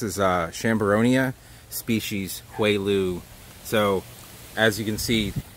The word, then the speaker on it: Houailou: area here this is a sham Boronia species quail ooh so as you can see it's not spelled the way it's would be pronounced in like you know a Germanic language